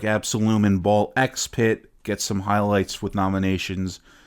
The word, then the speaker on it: Ball X Pit: Absolum Ball X Pit. And yes, I pronounced the X. I hear this game be called Ball Pit. There's an X there. The X is not silent.